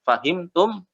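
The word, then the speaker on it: أفهمتم: katanya ya fahimtum Oya itu sebenarnya ada hamzahnya fahimtum tapi kan lawan bicara kita sudah tak udah tahu makanya hamzahnya enggak diucapkan kita langsung ngomong fahimtum kalau kalian tuh apa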